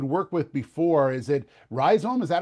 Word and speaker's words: Rhizome: Is it Rhizome? Is that how you say it? That's correct. So the business entity is called Rhizome.